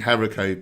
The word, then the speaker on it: haricot: Angel Keeper, wait, have I been pronouncing haricot beans wrong? Do you not say the T? Yep, I'm afraid I think it might be a French word, perhaps.